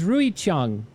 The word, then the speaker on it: Ruixiang: How do I pronounce this? It's it's Rui Chong.